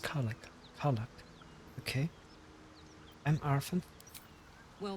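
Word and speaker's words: Karlach: It's pronounced Karlak.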